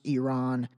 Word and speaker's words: Iran: The other thing is, and again, this is not me being critical, but like Iran is pronounced Iran.